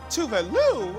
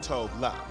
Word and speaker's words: Tove: the ultimate cool girl herself, Tove, and not Tove Love, like we've all been saying it wrong.